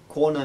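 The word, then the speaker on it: कोण: next would be konna this is a cerebral na and a long o corn corn where we have kona means an angle next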